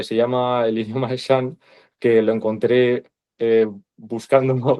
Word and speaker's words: Shan: El idioma complicado se llama Shan.